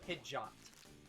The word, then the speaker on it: Pidgeot: writing verbally grasp it the pokemon stadia 2 announcer pronounces it pidgeot so not quite pidgey on but not quite fidget either pidgeot yeah pidgeot we